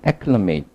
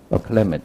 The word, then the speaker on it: acclimate: 두 가지로 발음한다는 acclimate 아니면 acclimate 이렇게.